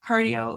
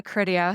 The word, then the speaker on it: Criteo: So then, did I know you when you were at cardio, or No, it's Criteo. It's a made up word, so don't worry about saying it wrong.